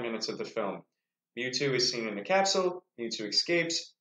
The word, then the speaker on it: Mewtwo: But either way, we see a Pokemon that I know, Mewtwo, who, am I pronouncing that right, expert?